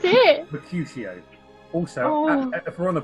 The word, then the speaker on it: Mercutio: Mercutio. Sorry. Who? Right, go from the top. I don't expect you to understand. Calm down. How do you pronounce it? Mercutio.